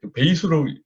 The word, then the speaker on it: Besu: 일단 배수에 대한 부분은 이게 원래 일본어로 이제 베이스 파운데이션인데 베이스로 발음을 해요.